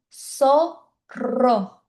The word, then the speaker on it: zorro: Então aqui zorro, né, que a gente fala em português, na verdade zorro significa raposa e se pronuncia sorro. Só porque o o Z ele tem esse som de s.